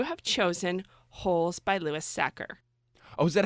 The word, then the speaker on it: Sachar: awesome so you have chosen holes by Louis sacker oh is that how you say his last name I've been saying Sachar my whole life so here's the thing I